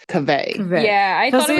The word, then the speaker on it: Kaveh: thought it was Kava, but I was doing the story today and he says Kaveh. Kaveh. Yeah, I thought it was Kaveh?